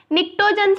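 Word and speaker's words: pnictogens: Okay, इसको हम boron family, carbon family, नाइट्रोजन family को हम निक्टोजेंस बोलते हैं, निक्टोजेंस। ठीक है, पी साइलेंट होता है इसमें।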